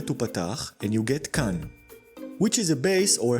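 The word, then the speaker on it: כַּן: Change the tzere to patach and you get kan, which is a base or a pad like in launchpad. So without nikud, it can be read also as kan.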